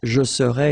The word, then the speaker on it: serais: to translate directly this je serais, it's I would be, okay? But then in French we've got only one form like that. Remember, so AIS, but then you don't pronounce the final S.